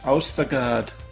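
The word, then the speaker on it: Østergaard: in that teamwork and Anders austergard I believe that that's how you pronounce that o as a or sound not an o sound but Jonathan here in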